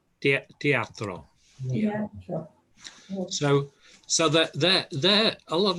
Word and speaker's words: teatro: I don't know how to pronounce it. Teatra. Teatro.